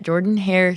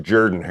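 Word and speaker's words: Jordan-Hare Stadium: is traveling to Auburn they are playing at Jordan hair Stadium on ESPN at 6:30 p.m. Texas A&M is favored by two and a half points it's actually pronounced Jordan her I know I know say that um spell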